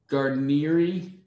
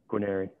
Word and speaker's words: Guarneri: Is it Garnieri? How do you say your name? Guarneri.